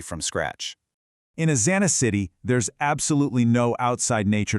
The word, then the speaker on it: Xity: We call this a city, spelled with an X for exoterrestrial, but pronounced with a hard K.